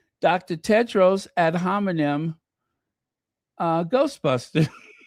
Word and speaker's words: Tedros: Tedros ad homonym.